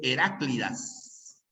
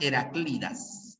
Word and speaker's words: Heraclidas: pronuncia mal y dice heráclides no es heráclides por si acaso ya es una obra de eurípides se pronuncia las heraclidas heraclidas es una palabra grave que termina en vocal